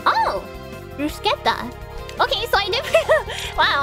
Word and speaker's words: bruschetta: It's Italian and it's pronounced like scut. Oh! Bruschetta.